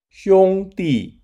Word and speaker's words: 兄弟: 兄弟 sounds like Sean digs, and 姐妹 sounds like Jack's mail.